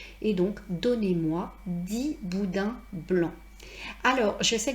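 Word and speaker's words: dix: donnez-moi 6 boudins blancs, tout simplement parce qu'après ces chiffres qui se terminent par X, il y a un nom. Donc, si j'avais dit donnez-en-moi 10, j'aurais pu prononcer 10 comme d'habitude parce qu'il n'y aurait rien eu après.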